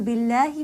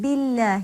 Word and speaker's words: بالله: Now, naturally, that means that when Allah is preceded by a kasra, when the lam in Allah is preceded by kasra, the lam will be light.